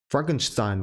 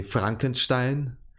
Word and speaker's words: Frankenstein: of used to say it in the English way, but whenever I do that I feel weird, so I don't say Frankenstein but Frankenstein. Although Frankenstein would be still okay for English speakers to pronounce. It doesn't have the weird sounds from German, like the CH and stuff, but you still say Frankenstein.